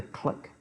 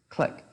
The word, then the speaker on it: Cliq: team setting where you're all remote is the click embedded system once again you can use it